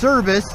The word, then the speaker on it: Cerbus: Right now we're heading over to the Colorado Springs Bike Shop, and I think the name is pronounced Cerbus, C-E-R-B-U-S.